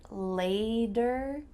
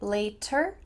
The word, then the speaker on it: later: Did you notice my pronunciation for the word later? Does it sound like later or later? Sounds like a D here.